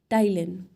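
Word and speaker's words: ptyalin: जानते हैं that is टाइलन P silent रहता है टाइलिन इसको कहते हैं जो सलव अमाइज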